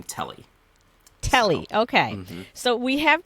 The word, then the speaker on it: Tele: the name for me t-e-l-e is it teal is it tele okay so my standpoint on name pronunciations is that however you want to pronounce it I don't care whatever okay makes it happen for you I personally personally pronounce her name telly Telly okay so we